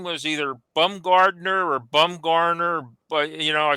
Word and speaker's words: Bumgarner: And sure enough, Kevin, there's one Bumgarner, Bumgarner in the yearbook. And he was saying that he couldn't pronounce it right. It's either Gardner or Garner without the D.